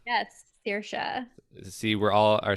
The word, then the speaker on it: Saoirse: Yes, so my name is Saoirse Clare, and Saoirse. yes, Saoirse.